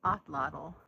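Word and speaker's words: atlatl: Okay, so I was just reading, the correct pronunciation is Otlotl. Okay, so the thing that looks like a belt up there with a buckle is the Otlotl.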